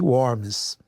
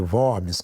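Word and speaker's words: Worms: E logicamente a igreja ela condenou as teses de Lutero e o chamou para uma reunião chamada dieta de warms ou de wormes, como alguns pronunciariam.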